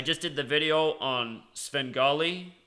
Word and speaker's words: Svengali: did the video on Sven golly alternet also pronounced seven golly the man who told me about it he's actually getting mad he's like it's only pronounced seven golly but I don't know I look at the way it's spelled to be that word says Svengali but anyway it equals